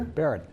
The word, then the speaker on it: Baran: blue neck Alberta Baran am I saying it right Baron Baron Baron there's there